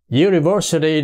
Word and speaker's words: university: coi kỹ là nha Rồi University đó một trường đại học thì chúng ta thấy đó bắt đầu bằng cái letter you Đúng chưa Nhưng mà cái âm ipa đỏ đỏ ở dưới nó lại là âm J tức là âm tới